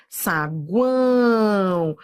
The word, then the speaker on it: saguão: Saguão, ó, semivogal, vogal, semivogal. Aproveite esse vídeo de teoria, entenda os detalhes. Tá vendo esse O aqui? Ó, ele é semivogal, ele tem som de U, ó, saguão.